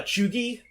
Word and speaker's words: cheugy: then there's like like did you follow a chugi discourse i immediately decided not to follow it